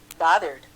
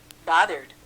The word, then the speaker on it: bothered: bothered, bothered, 드음으로 끝나면 이드로 발음한다.